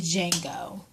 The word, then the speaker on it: Django: disappoint me with the Django the D is silent how in the hell